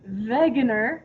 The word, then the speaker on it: Wegener: Alfred Wegener, because in Germany they pronounce their W's like V's because they're weirdos, so it's Wegener.